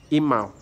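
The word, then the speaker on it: Emal: It's pronounced E-M-A-L, Imal.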